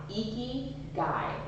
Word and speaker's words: Ikigai: Yeah, Ikigai. Ikigai is how it's pronounced.